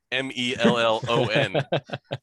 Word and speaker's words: mellon: is indeed spelled melon m-e-l-l-o-n uh but in sindarin which is the the name of the language that tolkien comes up with it is pronounced mellon which is what gandalf